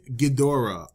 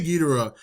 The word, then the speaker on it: Ghidorah: king ghidorah or guidora i say gidera and every time i say gideo i see these people in the comments like it's not pronouncing look it's not that serious okay i pronounce him king gidera you pronounce him king ghidorah i say tomato you say tomato so let's build a